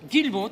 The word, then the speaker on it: Guilmault: Le L se prononce Guillemot? Guillemot, tout à fait, tout à fait.